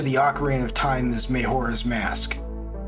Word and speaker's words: Majora: Case in point, the direct sequel to the Ocarina of Time is Majora's Mask. It's actually Majora, but growing up Hispanic, I just find it more comfortable pronouncing it that way.